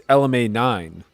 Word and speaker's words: LMA9: Nah, David, it's not pronounced LMA09. It's LMA9. Shout out to Tim H in the chat.